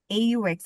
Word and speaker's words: aux: AU and AUX both of them are pronounced as au.